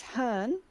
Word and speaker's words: Hearne: you would know her as Miss Han miss Hearne yeah H e AR N and I believe